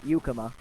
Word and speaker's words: Yuka: hope I definely would I would have Juka not Yuka that ball escapes the